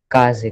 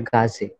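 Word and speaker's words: 風: काजे, correct. Not गाजे. इधर तेन नहीं है, ये का ही है.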